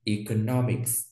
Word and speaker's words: economics: Economics đó là chuyên ngành kinh tế học, nhấn trọng âm vào no, economics.